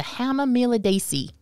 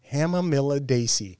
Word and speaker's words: Hamamelidaceae: Okay, so the botanical family, that fothergilla and witch hazel, which is known botanically as Hamamelis, is the Hamamelidaceae. Hamamelidaceae.